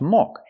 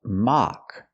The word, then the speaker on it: mock: a tol mock test the word is not pronounced mock it's pronounced mock we use the open a sound like hot and stop a ma mock it's